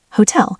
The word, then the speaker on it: Hotel: Examples: hotel, hotel, typically stressed on the second syllable in German, hotel, because it's a loanword.